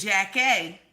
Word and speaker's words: Jackée: Now she discusses this with Jackée, because you got to say her name correctly.